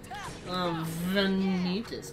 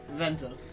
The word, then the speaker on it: Ventus: Player 3 will be in control of, Venitus. Oh, no. Ventus. Sorry, hearing that name pronounced like that just gives me a stroke.